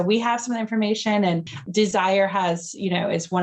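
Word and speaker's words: DSIRE: the listeners is a site called desire and it's spelled d-s-i-r-e so if you are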